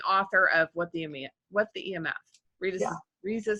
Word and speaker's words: Risa: So Risa, it's spelled like Lisa, but with an R. Risa, and the like the motorcycle, like you like to say.